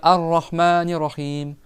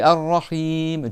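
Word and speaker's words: الرحيم: Ils vont dire rahim mais non arahmanirrahim. Il y a une shad aussi sur le deuxème R et c'est arahim tu prolonges aussi.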